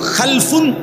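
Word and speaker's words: خَلَف: খালফুন আরেকটা হল খালাফুন একই শব্দ শুধু উচ্চারণের মধ্যে একটু ভিন্নতা মাঝখানে একটা লাম আছে এই লামটার মধ্যে যদি সাকিন হয় তাইলে হল খালফুন আর যদি লামের মধ্যে জবর হয় তাহলে হল খালাফুন আরবি শব্দ এ খালফুন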